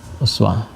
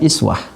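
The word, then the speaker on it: أسوة: Ini bisa juga dibaca dengan iswah. Ada dua cara membacanya. I jadi kasrah. Kasrah ini dibaca lewat riwayat Warsy juga.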